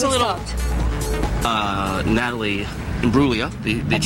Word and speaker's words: Imbruglia: Natalie Imbruglia. The That's G, right. the G is silent.